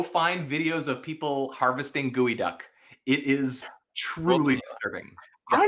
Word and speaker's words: geoduck: Well, I would pronounce them Gooey Duck.